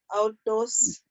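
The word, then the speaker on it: αὐτός: That a and the u is a diphthong. That's au. Au. Autos.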